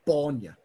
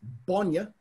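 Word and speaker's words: bainne: No, it's a broad B, so it's bonya. Bonya. Yep. And got it. Now I can correct people. And if it's got a short A, it's bonya, which is the word for milk.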